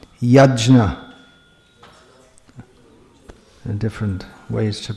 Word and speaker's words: Yajna: Apparently this should be properly pronounced Yajna. There are different ways to pronounce this. But in modern Indian languages, the JN is always pronounced Gya.